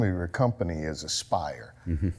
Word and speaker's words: Aespyre: doing sculpture the name of your company is aspire spell it and then tell me why you spell